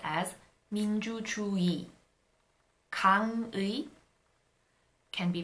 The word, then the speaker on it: 민주주의: However, when the 의 is not the first syllable of a word, then it is pronounced as e. For example, 편의점 would be pronounced as 편의점. 민주주의 can be pronounced as 민주주의.